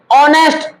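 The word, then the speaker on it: honest: पहले एन आ जाएगा ऑनेस्ट एच यहां पे साइलेंट है और जब एच साइलेंट है तो ये शुरू होगा ओ से ओ से शुरू होगा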